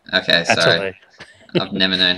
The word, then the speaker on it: Atelier: By the way, not to point this out or anything, but I think it's pronounced Atelier, Art Academy Atelier. Okay, sorry. Atelier.